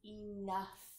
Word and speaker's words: enough: our next word is enough enough enough it's about E and O ugh enough here we have the UH sound spells oh you and the sound spelled G H mmm enough enough is